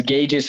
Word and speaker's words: gauges: Is gauges how you pronounce it? Yes, Okay, you got it.